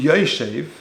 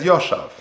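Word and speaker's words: יֹשֵׁב: Now, interestingly, although we pronounce it v'hu yoshev, it's actually written Yud Shin Beis, which could be read Yoshav.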